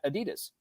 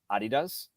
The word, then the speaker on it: Adidas: our friends over at Adidas Adidas Adidas depending on what part of the world you're at um so today